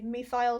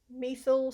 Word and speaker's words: methyl: it some people say me file some people say me fill some people say methyl up to you how you want to pronounce it as long as you